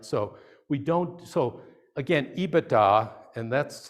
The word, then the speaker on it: EBITDA: first product right so we don't so again ebitda and that's how i hope everybody's taught to pronounce it i just a few i've heard